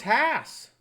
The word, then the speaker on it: Hass: The correct spelling's Hass. It's spoken to rhyme with pass.